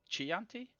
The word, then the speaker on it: Chianti: I'm gonna How go is break it noodles in pronounced? half. Chianti? Chianti. Chianti. That's Okay, that better. I didn't know. Chianti.